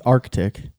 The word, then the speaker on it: Arctic: Arctic or Arctic. Well, it's Arctic. That's how it's spelled, right?